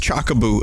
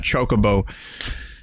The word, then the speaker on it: Chocobo: I was a kid he thought it was legitimately pronounced Chaka boo and not chocobo so I don't know